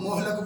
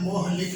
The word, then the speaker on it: مہلک: ہے وہ ہے مہلک۔ اکثر اس کو مہلک بول جاتے ہیں، لیکن یہ مہلک ہے، لام کے نیچے زیر